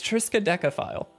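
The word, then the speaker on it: Triskaidekaphile: And if you look at the back, he actually wrote on there, how do you pronounce this? There it is, from Country Fried, guys. It's Triska Decaphile, for the record.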